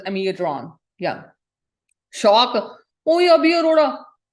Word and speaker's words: Amiodarone: ਇੱਥੇ in Canada, it's pronounced as Amiodarone.